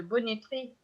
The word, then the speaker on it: bonneterie: déborder des articles de bonneterie alors je prononce bonneterie mais en fait ça s'écrit beau ne te rien les paragraphes exprès